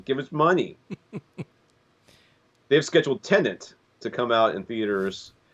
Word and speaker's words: Tenet: It's a palindrome, right?